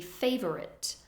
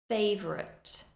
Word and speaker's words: favorite: The spelling looks like it should be favorite, but we do reduce that second syllable. Favorite. We don't entirely lose it, but you can hear that it is reduced.